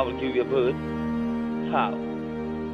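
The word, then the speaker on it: faux: Fau. F-A-U-X. Fau. It is not fox.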